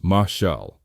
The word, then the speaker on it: mashal: Finally, we discover mashal, pronounced mashal, the Hebrew word for proverb itself.